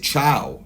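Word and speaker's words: Thiaw: I think his name, you actually pronounce it Chow, apparently.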